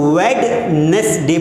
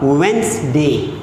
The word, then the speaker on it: Wednesday: पढ़ नहीं पाते और कुछ लोग जब पढ़ते हैं तो इसको वेडनेसडे पढ़ लेते हैं। लेकिन डू यू नो कि यहाँ पर जो डी है ये साइलेंट है। क्या है? ये साइलेंट है। इसीलिए जब हम इसे पढ़ेंगे तो इसका जो करेक्ट प्रोनाउंसिएशन होगा वो होगा वेंसडे।